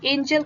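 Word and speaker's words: Engel: curve is देखिए ये एंगल नहीं है इसका spelling E एन जी ई एल होना चाहिए एंजल कर्व ठीक है एंजल कर्व का क्या मीनिंग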